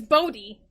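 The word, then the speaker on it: Bode: nine-year-old bodies perspective now i never knew how to pronounce bodhi until the tv show so it proved i was right it's bodhi uh cause leia tried to be like no it's bowed and i'm like no it's bodhi you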